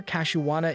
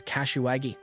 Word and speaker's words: Kashiwada: She adds that she's been practicing and Oda always gives the best reactions whenever Kashiwada is involved, though she mispronounces her name as Kashiwagi.